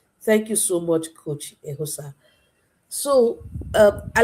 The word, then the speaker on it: Eghosa: I know called I call him called Coach Austin, the word I can pronounce without making mistake, but I pronounce I pronounce very Coach Ehosa.